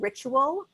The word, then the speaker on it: Richual: of a wellness startup called Ritual, which is spelled Richual.